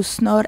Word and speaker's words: Snor: Tu peux d'abord YouTube de Snor, S-N-O-R, voilà comme ça se prononce.